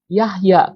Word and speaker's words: Jahja: yang disempurnakan ada itu John itu dialih aksarakannya jadi Yahya tapi tulisannya Jahja gitu seperti Nama saya dulu waktu masih alkitabnya pakai terjemahan lama terjemahan lama itu Yohana itu dialih aksaranya jadi Yahya dan itu nggak boleh